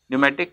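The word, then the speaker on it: pneumatic: P silent, निमोनिया, न्यूमेटिक, P silent.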